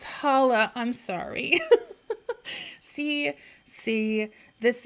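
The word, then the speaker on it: challah: autist oh no um it's pronounce Hala I'm sorry see see this is what happened when white people are like look at that cool tasty thing I think I'mma do it that Chala um man uh thank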